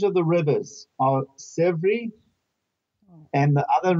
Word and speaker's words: Sèvre: The names of the rivers are Sèvre. And the other name of the river is Maine. Maine. Maine. Yeah. So S-E-R-V. No, S-E-V-R-E. S-E-V-R-E. Oh, Sèvre.